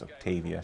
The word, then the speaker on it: Octavia: And actually, I think it's pronounced Octavia.